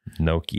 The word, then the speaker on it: gnocchi: It's spelled G-N-O-C. Gnocchi.